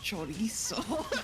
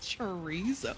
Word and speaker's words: chorizo: So I asked for chorizo, and they were like, "Oh my god, it's chorizo. It's not chorizo."